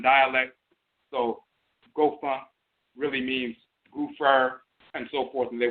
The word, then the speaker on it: goofer: So they would spell it like gopher, but they would add an extra O and say goofer.